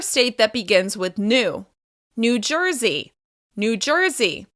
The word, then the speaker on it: New Jersey: New Jersey. New Jersey. Once again, the stress will be on the second word. It's on the first syllable of the second word. New Jersey.